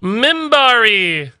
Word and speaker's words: Minbari: already five which is fine though it is pronounced in bari e minbari minbari earth thank you for the tier 1